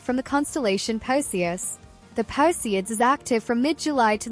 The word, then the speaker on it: Perseids: The Perseids, pronounced Perseids are caused by debris left behind specifically by the Swift-Tuttle comet.